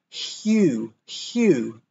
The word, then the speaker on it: hue: With the beginning sound, we put a bit of a Y in it. Hue, like human. Humid. Try to say that. And remember, after the H and before the U, there's a Y sound.